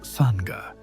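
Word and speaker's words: sangha: They formed what they called a digital dharma sanka using the Sanskrit word sanka pronounced sana which means spiritual community.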